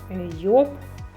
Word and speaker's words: Joop: тому я більше оце Job бренд німецький дорогий або ще йоб читається по-німецьки хто як каже ну це дуже дорогий